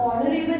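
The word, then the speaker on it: honorable: अब ऑनरेबल है, आप बोल रहे हो एच, इसके आगे एन नहीं लगना चाहिए, बट लगना चाहिए। क्यों? जब आप ऑनरेबल प्रोनाउंस करते हो ना तो H become silent, and when H become silent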